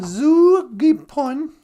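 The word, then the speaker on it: zoogipon: And then Zugipon. Zoo is just like English with two O's, like moon, zoo.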